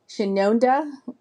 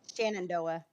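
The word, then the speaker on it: Shenandoah: and we have and I don't even know if I'm pronouncing this right. Shinona, I could be way off. Shannondoa, there you go.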